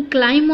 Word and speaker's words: climb: इसका सही pronunciation क्लाइम होता है, लेकिन कई बार हम इसे रॉन्ग बोलते हैं क्योंकि हम लास्ट वाला B जो रेड कलर का B है उसका साउंड भी हम उसके साथ ज्वाइन करते हैं, तो वो